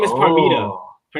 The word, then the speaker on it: Parmita: random fake shock, Oh, her like, name is Parmita. oh, Her name is Par- Parmita. Parmita, Parmita, Yeah. Parmita. Yeah, I was close. I said Pernida.